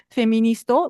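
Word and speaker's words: フェミニスト: En fait, le mot féministe en japonais on utilise le mot anglais féministe prononcé japonisé de prononciation japonisé féministo mais c'est le mot emprunté donc on écrit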